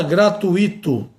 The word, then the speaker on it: gratuito: Não se fala gratuito. Não se fala gratuito. Gratuito tem noções. Fortuito nos dá lição.